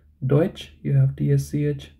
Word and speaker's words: Deutsch: there is a difference let's look at tsch so whenever you have tsch you can think of J of which or switch right Deutsch you have TSH Deutsch then TSH Deutschland and